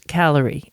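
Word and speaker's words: Callery: pear variety called Paris calorie and that's not spelled like calories that you eat it's actually spelled c a double l e r y and it's a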